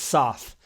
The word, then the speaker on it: Soth: 4 letters. There's not an apostrophe or an umlaut. 7 syllables. It's Soth. S-O-T-H. That's it. Soth.